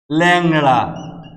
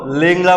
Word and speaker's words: ল্যাংড়া: আমরা উদাহরণ দেই, ল্যাংড়া, ল্যাংড়া। আমরা কখনো লেংড়া বলি না, কিন্তু আমরা বলি ল্যাংড়া।